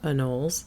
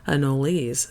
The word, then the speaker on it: anoles: may hear them called anoles which is the Americanized pronunciation or as anoles since this word originated